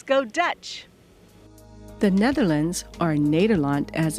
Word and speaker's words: Nederland: The Netherlands, or Nederland as it's pronounced, has 12 provinces.